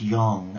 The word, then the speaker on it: yang: you will know that yin and yang pronounced Yong as in gong is one of the